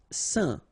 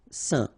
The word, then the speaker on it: saint: Saint. All right, so final T not pronounced, and then when you combine this A-I-N here, you get the sound. Saint.